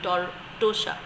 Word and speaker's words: Tortosa: That's a Spanish word. That is why the pronunciation is Tortosa.